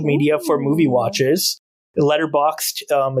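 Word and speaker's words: Letterboxd: like a social media for Movie watches the letterboxed um it's spelled letter boxed b-o-x-d um and I'm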